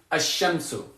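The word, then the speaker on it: الشمس: Because you'll know that sukoon means that I do pronounce the lam, al-qamaru, and you'll know that that shadda means that I don't pronounce the lam, ash-shamsu.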